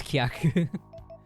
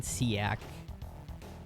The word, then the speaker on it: Kyaku: I I you know in my head there's just like no other way to pronounce it properly when I read it in English other than seak. But the the name is Kyaku.